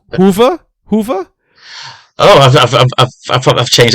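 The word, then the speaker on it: Hoever: I I remember you corrected me for this pronunciation last time uh it's Hoover Hoover oh I've I've changed that now myself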